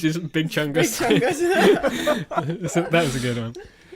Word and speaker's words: Chungus: And then in later that night, I was just with Rose, and then I just thought, oh, what does Chungus rhyme with? It rhymes with fungus.